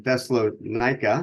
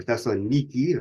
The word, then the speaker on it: Thessaloniki: We don't know exactly how long in Thessalonica or Thessaloniki or Thessalonica, however you want to pronounce it, depending on if you want to be first century or modern, but Thessaloniki of the day.